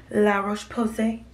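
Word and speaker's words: La Roche-Posay: C serum and my La Roche Posay every time I say that I gotta say it like them La Roche Posse cleanser I got the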